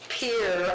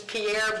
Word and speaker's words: Pierre: commissioning of the USS Pier. I always thought the city was Pierre, but it's Pier.